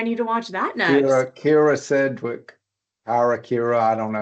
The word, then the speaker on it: Kyra: Kira Sedgwick. Kira, I don't know. I say Kyra, but I get corrected. My wife's always like, it's Kira Sedgwick.